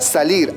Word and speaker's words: salir: Acá tenemos 2 sílabas. ¿Te das cuenta que la mayor fuerza de voz se encuentra en la última sílaba? Salir. Pero esta termina en consonante R, que no es ni N ni S, tampoco es una vocal.